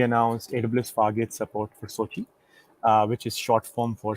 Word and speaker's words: SOCI: are going to be talking about Sochi correct that's how you pronounce it correct perfect so um we